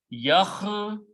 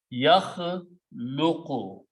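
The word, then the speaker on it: يخلق: Yakhluqu is the word. Important thing is that the way it sounds, the way it pronounces, last letter in the grammar has a dhamma. Yakhluqu.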